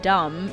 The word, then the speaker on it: dumb: For example, the B in dumb used to be pronounced and remained in the spelling as the sound disappeared.